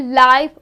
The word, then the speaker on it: live: So remember the pronunciation, we do not say live wire, we say live wires, okay?